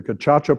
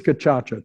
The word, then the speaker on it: Gacaca: So what is Gacaca? First of all, how do you spell it? Well, G-A-C, like in French, A-C as in French, A.